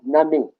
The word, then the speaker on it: nani: And when you spell it, it's Nani. But the I in our language sounds like an E. So Nani.